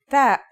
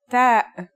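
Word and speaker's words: ت: The pronunciation is like the English T, except you should release your breath with a strong burst of air. Try it. Ta. Here's how to write the isolated version. Ta.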